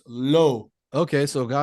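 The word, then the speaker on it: l'eau: low l apostrophe e Au and it's correctly pronounced it's low okay so go l so Lo so yeah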